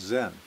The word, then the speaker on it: Zen: the 1200s and and the japanese pronunciation of john is zen so the the word